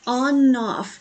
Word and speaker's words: ONF: So we are going to listen to a comeback by ONF. I'm pretty sure you say it like you turn the switch on and off instead of ONF.